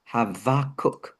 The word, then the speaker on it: Habakkuk: Uh the B is actually a V sound and that would be the same for Abraham.